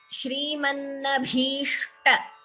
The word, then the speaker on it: श्रीमन्नभीष्ट: Yes, okay, here Shrimannabhishta. Bhi is Mahaprana. Please note the pronunciation of this letter, sh and t.